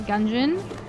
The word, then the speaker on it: Gungeon: Andrew recently had a dream where he was fighting the Trigger twins in Enter the Gungeon, which is pronounced like dungeon, but the fight was going nowhere.